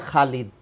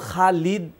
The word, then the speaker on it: খালিদ: ওয়াদ্দোহে অদ্দোহে আচ্ছা অতএব খালিদ এটাকে আপনি যদি হুবহু আরবিতে বলতে চান তাহলে খালিদ অথবা কিছুটা এমালা করে যদি বাংলায় যেটাকে একার বলা হয় যদি খালেদ বলেন এটাও পারফেক্ট শুদ্ধ এটা নিয়ে কোন মানে